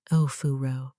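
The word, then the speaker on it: お風呂: The ninth thing, Ofuro, pronounced as Ofuro, meaning the evening hot bath ritual.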